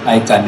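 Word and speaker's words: ICANN: I think um attempt to know clarify what icon is and what it is not of course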